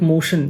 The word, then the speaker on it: MOTN: यहाँ पे क्योशो लिखा हुआ है, ये MOTN कंपैटिबल है, मोशन बोलते हैं शायद इसको, इट्स प्रोनाउंस्ड लाइक मोशन।